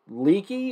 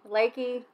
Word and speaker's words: Leakey: We're in Leakey or Lakey? Lakey. It's spelled Texas. L-E-A-K-E-Y, so I would call that Leakey, but the locals call it Lakey.